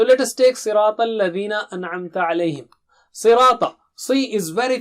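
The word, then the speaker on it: أنعمت: An'amta alayhim. An. Should be very clear. It's not anamta. It's not anamta. No. An'amta.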